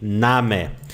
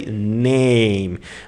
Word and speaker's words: Name: And the word name in German, we say Name. As you can see, the word A here has a different sound in German. You don't say name, but Name. You pronounce it with open mouth.